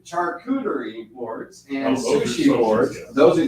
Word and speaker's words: charcuterie: a filler and then i always get the name wrong on this but katuri charcuterie charcuterie imports and sushi those are these are sushi